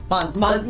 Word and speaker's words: Monse: Monse. Yeah. It's French. This is why we buy second hand cuz we can't pronounce it correctly.